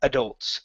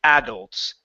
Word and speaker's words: adults: in your neighborhood okay I learned it as adults I put the stress on the end there are many people who say adults and that's okay makes no difference okay there may be some some specific instructions on how to say the word in the dictionary or whatnot but you'll get people saying both neither is more correct than the other okay all right let's